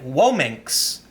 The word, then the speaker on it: Womxn: lots of different ways I have heard some pronounce it whoa minks dr. Bradberry rants says whoa minks you can see they